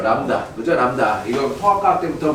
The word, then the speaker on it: 람다: 파장을 대표하는 문자는 람다예요. 람다 그죠? 람다. 이거 통학과학 때부터 많이 나왔죠? 람다라고 읽어요. 람다.